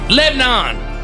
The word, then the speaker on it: Lebanon: Lebanon. 2 syllables, baby. 2 syllables.